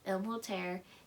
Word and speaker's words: El-Mohtar: Time War by Amal El-Multair and Max Gladstone. I pronounced the first one right, but I pronounced the white sounding name wrong.